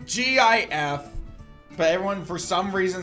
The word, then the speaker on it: GIF: I will find the gif.